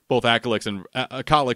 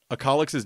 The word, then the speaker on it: Acolyx: Acolyx's name is pronounced Acolyx. And he just doesn't care that much to correct people because Vrograg started pronouncing it Acolyx.